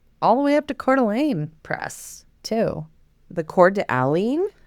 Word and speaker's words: Coeur d'Alene: It's c o e u r space d apostrophe a l e n e. It's It's French.